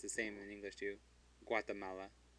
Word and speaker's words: Guatemala: Guatemala. The U is pronounced because it's between a G and an A, so it is pronounced. Guatemala.